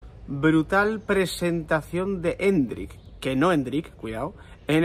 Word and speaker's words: Endrick: han dejado claro que es Hendrik. Hay que poner el acento en la E del principio y no Hendrik.